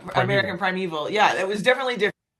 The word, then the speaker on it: American Primeval: Um, how was it working on American Primal Prival? I can't pronounce it right. Oh, yeah. American Primeval.